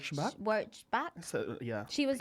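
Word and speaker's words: Pia Wurtzbach: Do you think it's something I remember Pia W back? That's how you say her name. Back. W back.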